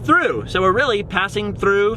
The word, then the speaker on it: Thoreau: that we're passing through Thoreau New Mexico which the locals pronounced through so we're really passing